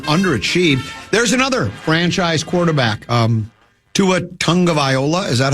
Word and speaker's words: Tua Tagovailoa: There's another franchise quarterback, Tua Tagovailoa. Is that how you say it? Tua Tagovailoa, yeah.